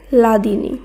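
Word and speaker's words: হ্লাদিনী: কিন্তু এখানে আমাদের মনে রাখতে হবে হয় ল এই যুক্ত বর্ণটি যদি শব্দের আগে হয় বা শব্দের শুরুতে হয় সেখানে হয় ল এর পরিবর্তে শুধু ল ব্যবহার করতে হবে। তাই হয় লয়াকার দয়রস্যি দন্তনয় দীর্ঘী এই শব্দের উচ্চারণ হবে লাদিনী, লাদিনী।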